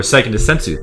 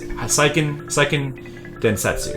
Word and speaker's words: Seiken Densetsu: Or Seiken Densetsu 3. Or how do you wait, no, how do you say Seiken Densetsu, right? Seiken Densetsu?